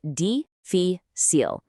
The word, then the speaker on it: difícil: And its opposite is difícil, pronounced difícil, which, as you might guess, means difficult.